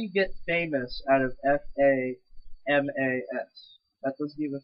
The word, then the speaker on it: FAMAS: yeah that's another thing guys fun fact it's pronounced Famas not fam and the it's the Galil not